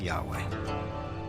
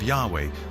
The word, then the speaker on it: Yahweh: and his name was these four letters which in English would be YH wh which we think were probably pronounced something like Yahweh but Yahweh only appears